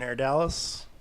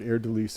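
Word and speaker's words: Haer'Dalis: Everyone in Hair Dalise. It really depends on how you pronounce it. I've heard both. I've heard Air Delise is kind of the definitive.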